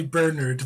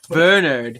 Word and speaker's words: Bernard: I have with me Bernard, right? That's how you say it? Well, that's how the Americans say it. I say Bernard, but it's... Bernard.